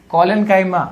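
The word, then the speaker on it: collenchyma: दूसरा कॉलेन्कीमा, भाई पैरेन्काइमा, कॉलेन्काइमा, नहीं तो एग्जाम में भी गलत लिखोगे। अरे लिखना तो सही है, प्रोनाउंस सही किया करो, ठीक है।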